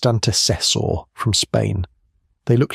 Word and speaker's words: antecessor: The teeth, scanned down to the junction between enamel and dentine, match neither Homo erectus nor Homo antecessor, pronounced antecessor from Spain.